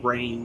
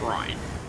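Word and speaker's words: Reyn: first draft of that they said rain instead of ryan i was like why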